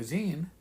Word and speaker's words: zine: we uh do a zine and i guess xena is the proper way to pronounce it so i've been told